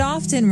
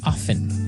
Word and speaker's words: often: Now with pronunciation, some people like to pronounce often, right? They kind of leave out the strong t sound while other people say often.